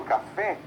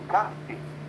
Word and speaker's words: café: Eu tenho sofá e não sofá. Eu falo café e não cafe.